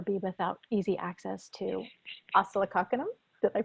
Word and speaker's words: Oscillococcinum: And I personally will never travel and never be without easy access to oscillococcinum. Did I pronounce that right?